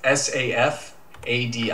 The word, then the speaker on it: Safadi: It's Shaddy, and Safadi, I believe it's pronounced Safadi. It's Safadi.